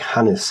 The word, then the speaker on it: Hannes: Jack Hannes, I presume you, that's how you pronounce his surname, H-A-N-N-E-S, formed Hannes Import and Export, and that's where we get the name Hanimex from.